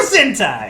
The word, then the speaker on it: Sentai: Super Sentai. Rhymes with hentai.